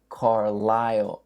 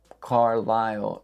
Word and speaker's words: Carlisle: And for example, my father is from a place called Carlisle, Pennsylvania. Carlisle is spelled like that. And yet, you don't pronounce the S.